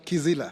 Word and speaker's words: Kizila: My name is Kizila. See, office Priscilla, like you pronounced it last time. Kizila.